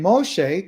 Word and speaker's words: Moshe: Then Moshe, that's the way you say his name in Hebrew, called to all Israel and said to them, "Listen, Israel, Shama, Israel.